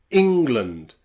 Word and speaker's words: England: In some words where you stress that E, we pronounce it as the short I sound. Practice with me. English, England, and pretty, pretty. Don't say England or pretty. That sounds really silly in English, but pretty, English, and England.